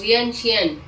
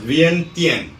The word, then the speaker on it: Vientiane: वियनशियन। इट्स वियंतियान। YouTube पे देखो, सब वियनशियन बोलते हैं बैठ के। नहीं, इट्स वियंतियान।